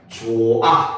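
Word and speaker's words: 좋아: 전미사가 결합을 할 때는 히읗을 발음하지 않아요. 알겠죠? 그래서 예를 들면 조아 같은 경우도 발음을 하면 조아 이렇게 되죠.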